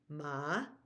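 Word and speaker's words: หมา: in in in Tha ma where we go down and up or Rising is uh dog ma High tone is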